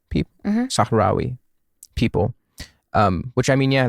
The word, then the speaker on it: Sahrawi: Sahrawi people, Sahrawi people.